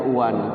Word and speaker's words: one: ini tapi bacaannya beda kayak bahasa Inggris ya one bacanya Uan kan jauh kan ya kalau kita tidak belajar kan one gitu kan Nah ternyata Quran